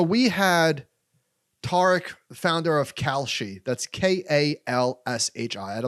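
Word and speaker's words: Kalshi: ahead um so we had tarik founder of calci that's k-a-l-s-h-i i had a lot of people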